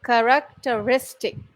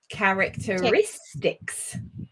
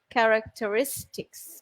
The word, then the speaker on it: characteristics: Characteristic. Lovely. Don't forget the s on the end. Characteristics. Yes. Characteristics. We are putting pressure or stress, putting pressure on risk. Risk. Yeah, the 4th syllable there.